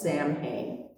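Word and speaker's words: Samhain: And it's spelled in a very weird way. It's s a m h a i n like it's Sam Hayne.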